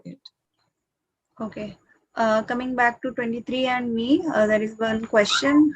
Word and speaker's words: 23andMe: What do you pronounce it? 23andMe.